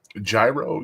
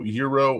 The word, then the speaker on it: gyro: Uh gyro, yurro, or girro. It's actually pronounced from the Greeks that I've ever been around. Euro gira yo. Okay. Like euro, but you got to throw a heavy yo.